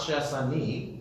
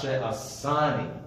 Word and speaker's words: she'asani: No, so it's not she'asani, it's she'asani, right? Because the accent is on the side, a little meteg, okay?